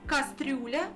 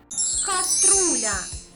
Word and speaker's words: каструля: сказано правильно українською мовою як правильно кастрюля чи каструля українською буде правильно каструля як правильно стіл чи